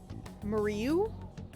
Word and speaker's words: Mariu: what my name says, it's pronounced like Maria, but with an ooh at the end. Mariu?